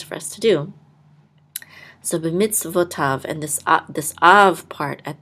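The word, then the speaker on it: בְּמִצְוֹתָיו: with a kamatz, and this yud will not be sounded. And then this is a vav, so it's going to say tav, b'mitzvotav.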